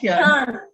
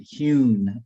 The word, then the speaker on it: Hyun: It's Hyun. Yeah. Hyun. I Commissioner Suh, I actually grew up with everyone calling it Hune or Hun, or it was hard for people to pronounce Hyun.